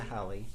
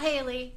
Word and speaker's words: Hallie: Rebecca Hallie. Not Haley. You don't pronounce it Haley. No, it's not Haley.